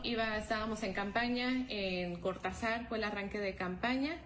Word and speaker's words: Cortazar: carretera eh cortazar Jaral del Progreso así se pronuncia cortazar Pues fue intimidado el convoy en El que